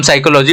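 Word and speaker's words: psychology: format में आया है पी हो गया साइलेंट ही वर्ड को जो हम साइकोलॉजी बोलते हैं इसी की वजह से बोलते हैं क्योंकि स आई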